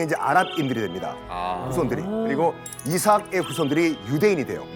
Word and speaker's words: 이삭: 이삭, 영어 발음은 아이삭이죠.